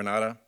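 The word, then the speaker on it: Renate: YOU MENTIONED THE RENATA -- I DON'T KNOW HOW YOU PRONOUNCE THAT. THAT. THAT. THAT'S THE PROPER NAME OF AN INDIVIDUAL YOU KNOW? RENATA. RENATA. RENATA. IT'S SPELLED RE-N-A-T-E.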